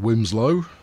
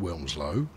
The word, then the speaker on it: Wilmslow: whatever this is, Bromyard Wimslow. I know you think it's pronounced Wilmslow, but people who live there will let you know quite quickly that Wimslow is how they prefer to pronounce it.